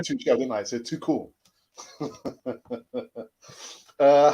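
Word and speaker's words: Tuchel: it's more me uh let's pronounce her too cool yeah too cool and not too shell uh he's german not french thank you for that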